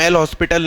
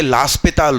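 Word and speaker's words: L'Hôpital: तो इसका सही नाम एल हॉस्पिटल नहीं है, ये लास्पिताल रूल है। क्या, लास्पिताल।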